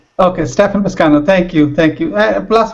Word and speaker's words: Stephan Piscano: Stefan Piscano, but yeah. So, you got it right. Okay. Stefan Piscano.